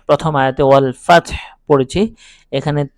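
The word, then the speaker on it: والفتح: এখন এখানে আমি যে ওয়াল ফাতহ প্রথম আয়াতে ওয়াল ফাতহ পড়েছি এখানে তা এবং হা উভয় দুটি হরফ উভয় দুটি হরফ এখানে সাকিন উচ্চারণ হবে তাও সাকিন উচ্চারণ হচ্ছে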